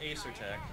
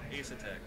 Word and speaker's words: Asetek: Not Asetek, Asetek.